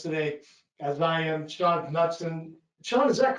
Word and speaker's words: Knudson: Sean Knudson. Sean, is that correct? Knudson? I like to say Knudson. You know, Knudson? That's a K, hard K.